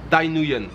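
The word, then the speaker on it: Thái Nguyên: Et aujourd'hui je vais prendre donc la direction de Tay Nguyen. Tay Nguyen, si je le prononce à la française.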